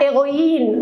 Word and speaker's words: héroïne: j'ai dit le féminin héroïne on ne prononce pas le h ça peut être un